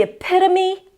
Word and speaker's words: epitome: be pronounced with a long o is in go like hope or bone. But in this case, no, it's epito. The o is actually awah. Examples. This is the epitome of comfort.